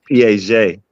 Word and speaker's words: Piaget: He's like it's pronounced Piaget. What?